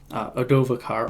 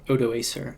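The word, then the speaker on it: Odoacer: child by his general adovakar or odo acer is how i hear english speakers mostly pronounce it and he this general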